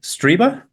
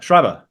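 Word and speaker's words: Strieber: friends with uh Dan striber oh um am I saying it right or uh shriber shriber oh Danny shriber yes forgive me um and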